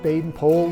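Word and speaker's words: Baden-Powell: lord robert stevenson smythe baden pole of gilwell but when he was around scouts he was simply bp and by the way the correct pronunciation of his name is pole like in whole not powell like in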